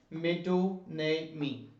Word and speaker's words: metonymy: ये इसकी प्रोनाउंसिएशन है, मेटोनेमी।